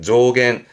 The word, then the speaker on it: 増減: 발음은 조갱 명심하세요. 음은 갱갑니다. 조갱 조겐 증가와 감소를 줄여서 증감의 조겐 조겐이 되겠네요.